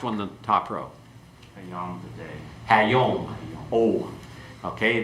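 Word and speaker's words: הַיּוֹם: Okay, let's go through and pronounce these and then give the translation. Okay? Hamelech, the king. Hakol, the voice. Hayom, the day.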